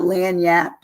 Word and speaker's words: lagniappe: i a p PE so it doesn't it it and it's so short in terms of of how you say it but it's long in terms of how it's spelled but it it is